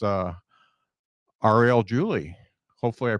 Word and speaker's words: Ariel Julie: gonna bring her up right now it's uh Arielle Julie hopefully I pronounce that right do they pronounce that right